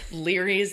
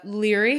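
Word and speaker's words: Laoghaire: ever in the books that Leary's name is spelled la o g h AI r e anyway he goes Scotch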